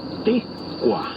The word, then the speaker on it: Ticua: Recuerda que en el náhuatl las palabras se acentúan en la penúltima sílaba. Ticua.